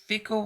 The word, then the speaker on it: Fico: of October 2023 and his name is Robert Fiko. I think he's pronounced Fiko.